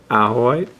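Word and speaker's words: Ajoite: let's move on okay this next piece is owl white uh or addrei depending on how you like to pronounce it apparently the correct pronunciation is ahoy uh this piece comes from uh a place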